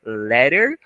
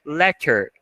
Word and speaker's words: letter: Dois T's, como a gente já viu, tem uma pronúncia de R, ou então você pode colocar a própria pronúncia de T, tá?